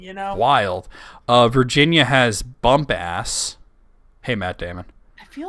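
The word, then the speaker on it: Bumpass: Virginia has Bump Ass. Hey, Matt Damon. I feel like I've been through there. Bump I Ass. don't, It's I don't apparently- really want bump ass. According to this, it's pronounced Bumpus.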